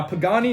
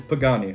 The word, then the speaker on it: Pagani: is pronounced like that now pagani is a pretty easy one it's pagani or pagani most people know how to say pagani but one of their